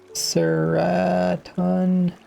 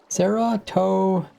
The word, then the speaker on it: serotonin: Seraton. List of ideas of things to do, yeah. No important list. Well, they're on the important list. My lists aren't too important. Serotonin.